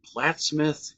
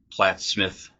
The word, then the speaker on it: Plattsmouth: So I do think that's kind of interesting that, it kind of sounds like Plattsmouth, and I don't know if it's just the way we're saying it, but it sounds like Smith instead of mouth.